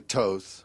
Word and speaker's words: Thoth: Then you got the Thoth deck, or as some people pronounce it, I don't know why, but they pronounce it the Tahuti deck. Or the Toth.